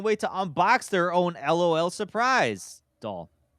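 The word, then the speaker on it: L.O.L. Surprise!: drum roll as in LOL surprise BB's boring the Trap okay okay hold on you you guys are probably gonna make fun of me but it's actually pronounced l-o-l surprise yeah because it it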